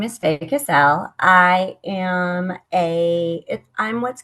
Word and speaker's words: Faye Casell: Fay Cassell Correct.